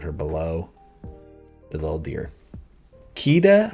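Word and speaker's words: Kida: below the little deer keita i think is how you say her name it's been a while since i've seen this one i don't think it's kitta but it might be uh from atlantis she's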